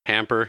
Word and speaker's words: Hamper: It's just this farmer, Hamper, he said his name was, Hamper Dinsmore. Like a clothes hamper. Spelled the same and everything.